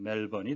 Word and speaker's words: Melbourne: 멜번, 호주의 제2대 도시인데요. 우리말로는 멜버른이라고 표기를 하고요. 영어식의 발음은 멜번이 되겠습니다.